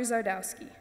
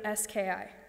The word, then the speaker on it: Zgardowski: I politely correct them and tell them the G is silent and that I'm used to it.